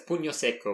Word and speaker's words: pugno secco: How do you pronounce the... So it's pugno secco, which means dry punch.